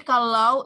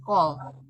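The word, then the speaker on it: כל: Jadi kalau ibu-ibu menemukan, Yaladi menemukan teks seperti ini di Torah, ini dibacanya jangan kal tetapi kol.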